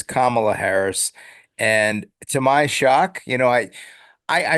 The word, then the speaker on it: Kamala Harris: So that was but you don't pronounce her name Kamala, clearly. No. She's not the No. Ugandan. She's no Ugandan giant. No. She is Kamala Harris.